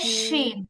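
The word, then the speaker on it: شين: জিম ওকে, এবার হচ্ছে শিন। শিন হরফটা একদমই সহজ একটা শব্দ, হরফ। এটা হচ্ছে আপনার বাতাস ভর্তি একটা উচ্চারণ হয়, শি, শি, বাতাসের প্রভাবটা এখানে বেশি।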